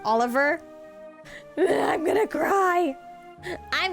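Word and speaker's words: Olivier: Given how the country is from is supposed to be more German related, it's actually pronounced Oliver.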